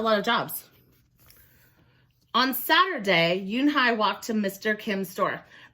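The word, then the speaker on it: Unhei: "Your name is Eun-hee?" he asked her with his eyes open wide. Yoon-hae looked quickly at Mr. Kim, then turned to Joey. She nodded slowly. "Yes, it's pronounced Yoon-hae."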